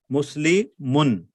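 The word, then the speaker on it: مسلمٌ: But if you expand it, this is what it means. Muslimu, Nun Sakin. How do you pronounce this? Muslimun. Yes. Muslimun. Yes. So because of these 2 signs, you have to add the noon at the end.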